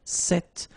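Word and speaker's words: cette: it's quite interesting because if you listen carefully the masculine form here set and The Feminine form here set you write them differently but then you pronounce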